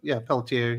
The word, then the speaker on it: Pelletier: Is that how you say it? Pelletier? No, Pelletier.